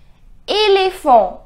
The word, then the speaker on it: éléphant: It is not E. It is E. Éléphant. The pronunciation is éléphant.